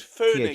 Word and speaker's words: Foenix: Phoenix. Because it's the F256K, right? But it's spelled Foenix.